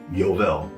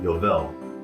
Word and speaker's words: Yovel: It's called the Jubilee shofar, or the Shofar Eual. So let's spell that last word out, Eual. Y-O-V-E-L, Eual.